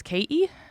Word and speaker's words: Katie: understand me but and the way I would have pronounced my name growing up was ke okay so that's how I don't pronounce my T's usually and that's my accent would be ke so everybody would call me Katie and when I first